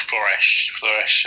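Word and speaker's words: Flörsch: It's Floresh. However, I've heard two different pronunciations.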